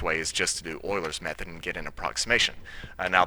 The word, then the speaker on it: Euler's method: All right, let's look at Euler's method in this one, and that is pronounced Euler, not Euler.